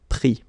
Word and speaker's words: pris: Same thing here. Final S not pronounced, so prendre, pris.